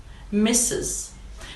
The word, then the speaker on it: Mrs: second female title missus missus the pronunciation of the word is exactly the same like the word misses like she always misses